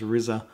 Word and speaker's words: RZA: um about the movie but it's it's actually pronounced rizza um he's from the wu tang clan which